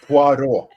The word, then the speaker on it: Poirot: Did I say it right this time? No, Poirot. Poirot. Films Without directed. Well, you sound like you got an R in.